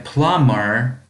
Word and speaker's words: plumber: A plumber, сантехник, буковка B не читается.